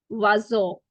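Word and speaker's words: oiseau: What is the actual pronunciation? Vazo.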